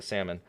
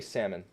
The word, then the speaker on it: salmon: How do you say salmon? Salmon. You know how I used to say it? Salmon. Yeah, I know, because in Spanish it's salmon, and so I would say salmon.